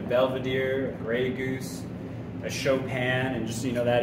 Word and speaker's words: Chopin: look at a badier a Gray Goose a chopan and just you know that is the way to pronounce it it's off it's based off of the uh pianist uh showan not choping our well is Tios that's a pretty high-end